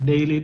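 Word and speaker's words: değil: Dail itu dibacanya Dail ya.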